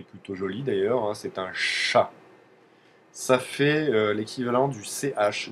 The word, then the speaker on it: ш: ça fera un chat la lettre s'appelle le chat tout simplement C il faut le savoir aussi